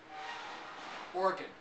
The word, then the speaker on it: Oregon: how they say it Oregon two syllables the middle syllable is not pronounced that's the best I can do being a foreigner of the state of Oregon maybe there's a more